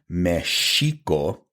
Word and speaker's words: Mexico: was placed there because Mexico is supposed to be pronounced Mexico the X makes that sh sound but the thinking was